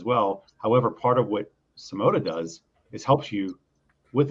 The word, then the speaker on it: Symoda: and what Wayne's doing over there with uh simota did I pronounce that you pronounce it this time Sam